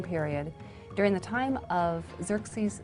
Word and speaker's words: Xerxes: So one of these kings in the 400s, his name was Xerxes.